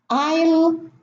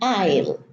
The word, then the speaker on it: isle: In island, isle, and isle, we have a silent S. And the S, the silent S, is preceded by the vowel I, and it's pronounced as an I. Island, isle, and also isle.